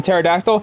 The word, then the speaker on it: pterodactyl: It's because some letters are have silent, like the P is silent in pterodactyl.